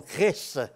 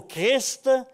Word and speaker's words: Christ: Quand on dit que dans la langue française, le mot qui finit en IST est prononcé avec IST dans tous ces mots. Seul, ou à peu près seul, le mot Christ est amputé de son ST en le mettant muet.